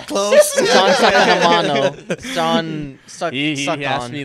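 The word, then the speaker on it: Sean Saccomanno: We're here with Samson, that's me, Hunter, and our special guest today, we have Sean Sakamano. Close. Sean Sakamano.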